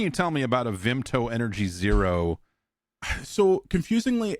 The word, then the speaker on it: Vimto: What what can you tell me about a Vimto energy zero? Uh so confusingly it's pronounced Vimpto v i m p t o at least it as in Scotland they pronounce it Vimpto.